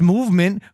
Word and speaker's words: MVMT: Movement pronounced movement grew into one of the fastest growing watch brands, shipping to over 160 countries across the globe.